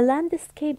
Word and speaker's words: landscape: قصدها المنظر لاحظ معي landscape الاس والسي مش اني بلفظهم مره واحده اس نو no. بتلفظ الاس وبتلفظ السي على انها كي كي the landscape is beautiful up here